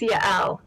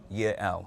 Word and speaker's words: Yael: Once again, ma'am, your correct name, the pronunciation of your name? It's Yael. Yael.